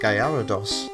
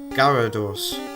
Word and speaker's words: Gyarados: Gallarados. That's how how I used to pronounce that Pokemon's name. Gyarados.